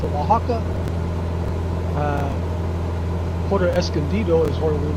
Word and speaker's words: Oaxaca: I think that's how you pronounce it, Oaxaca.